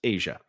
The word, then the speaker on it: Tiah: Anyway, it's pronounced Asia.